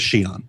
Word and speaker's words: Xi'an: It's one of the reasons we don't often correct people when they mispronounced Xi'an. And it is Xi'an. Xi'an is the official pronunciation.